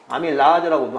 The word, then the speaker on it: 아밀라제: 아밀라제라고도 하는데, 라제. 이것이 엿당으로 바꾸는 거예요. 우리 침 속에 아밀라제가 있어요. 원래 이제 우리나라식 발음은 아밀라제지만 영어는 아밀레이스라고 하죠.